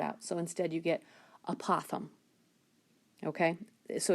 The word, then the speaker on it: apothem: So the trick is, the word is apothem.